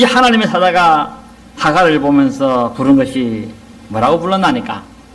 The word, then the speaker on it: 하갈: 원래 이제 이 히브리식의 어떤 발음의 그 억양은 주로 뒤에 액센트가 있습니다. 그러니까 하갈이라 부르는 게 아니고 하갈 이래 부릅니다.